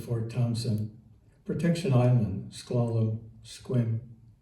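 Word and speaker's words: Sequim: Departure Kingston, Port Gamble, Hood Canal, Discovery Bay to Old Fort Thompson, Protection Island, Squallow, Squim Rhymes with Swim.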